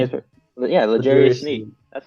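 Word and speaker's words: L'Jarius Sneed: Yeah, Legarius Sneed.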